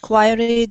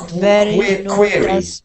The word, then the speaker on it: query: yes great thanks yes quiry doesn't Rhythm it's not quiry it's query query let's go back